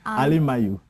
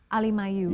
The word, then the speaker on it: Ali Mayu: say that again. Ali Mayu. Ali Mayu. Yeah, but you could just say Mayu for short.